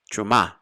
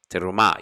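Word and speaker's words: תרומה: So terumah becomes truma because they hardly pronounce it at all. Truma. But it's really terumah. You have to go real quick and pronounce the first E under the letter tav to make terumah.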